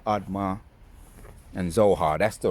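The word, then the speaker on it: Admah: Let's go in and I remember the pronunciations of the Zebo, Admar, and Zo Zohoim. Zeboim, Admma, and Zohar.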